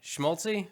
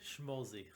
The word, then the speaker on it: Schmolze: have with me how do you say your last name schmaltzy schmolzy schmolzy there's no tea no tea chicken fat